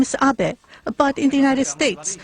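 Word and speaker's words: Abe: House my name is AB but in the United States some people mistakenly pronounce my name as ape but that is not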